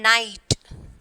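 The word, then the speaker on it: knight: Next one, night. That is K is there, but we are not pronouncing the K.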